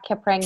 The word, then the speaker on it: Kapwing: Kapwing.